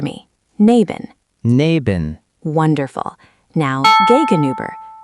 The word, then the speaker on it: gegenüber: Next to is neben, opposite is gegenüber, and behind is hinter. Let's try neben. Repeat after me. Neben. Neben. Wonderful. Now, gegenüber. The U is like saying E, but with your lips rounded.